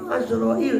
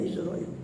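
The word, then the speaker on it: عزرائيل: mereka adalah malakul maut azrail dengan fathah ain ain azrail walaupun yang populer orang bacanya izrail ajd apabila hadir datang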